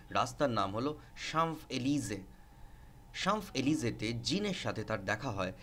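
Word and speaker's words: Champs-Élysées: ফ্রান্সের একটা বিখ্যাত রাস্তার নাম হলো সাম্ফ এলিজে শামফ এলিজে জিনের সাথে তার দেখা হয় এন্ড ডিসাইডস টু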